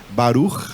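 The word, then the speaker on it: ברוך: vocês já devem ter ouvido por aí mas pronunciando assim errado né Baruk já ouvi num Baruk por aí Baruk pessoa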